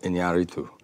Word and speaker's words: Iñárritu: The American Pronunciation Guide Presents "How to Pronounce Iñárritu" and that's a piece by the director Alejandro G. Iñárritu, Alejandro Inarritu as an example of Inarritu.